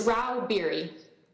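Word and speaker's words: Rauh-Bieri: how do you say your name ma'am it's Ral beer thank you uh Miss Stags leral lobbyist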